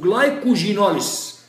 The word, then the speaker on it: glycogenolysis: تكسير الجلايكوجين اسمه جلايكوجينوليس. لو ما علمتهاكش عمرك ما هتقولها غلط. دي بطرح دي في موضوعنا اللي هو تكسير الجلايكوجين لازم تنطق حرف الجي جلايكو جي نوليس انما التانية جلايكوليسيس جلايكو جي نوليسيس الثانية جلايكوليسيس.